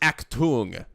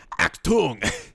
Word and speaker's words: Achtung: That word is pronounced Achtung, apparently. Achtung. Achtung, which means danger, apparently.